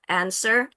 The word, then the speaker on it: answer: And then answer, you don't pronounce the wah, w-nya nggak dibaca, answer, bukan answer, there is no wah there.